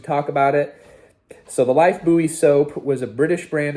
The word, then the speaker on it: Lifebuoy: in the US called Life Buoy soap, but they pronounce it life boy soap.